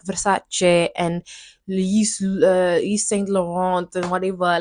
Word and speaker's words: Versace: Like Versace isn't Versace. It's Versace. So just say Versace.